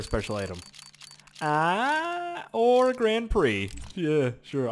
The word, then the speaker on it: Grand Prix: Or a Grand Prix. Yeah, sure. I like calling it Grand Pricks because people get upset like, "No, that's not how you say it.